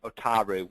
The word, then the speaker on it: Otaru: ports of Tokyo Kobe and otaru which I understand is the correct pronunciation but clearly I'm not very good with my Japanese so three home ports